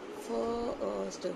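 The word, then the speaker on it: first: फर्स्ट, हाँ बेटा इसमें थोड़ा सा साइलेंट लेटर है एक, वो है आर।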